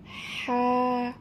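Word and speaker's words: ح: এই কণ্ঠনালীর মধ্যভাগ হইতে হা উচ্চারিত হবে, একটু হালকা চেপে উচ্চারণ করতে হবে।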